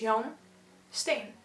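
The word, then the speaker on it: Jan Steen: you honest with me and then you have johnstone not jen st steven i don't know how you pronounce it uh in english or in another language but um so it's young stain pretty easy young stay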